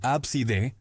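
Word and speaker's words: Abcde: Según registros de nombres en los Estados Unidos, el nombre A CD, pronunciado comúnmente como ABSD, realmente ha sido utilizado por cientos de familias.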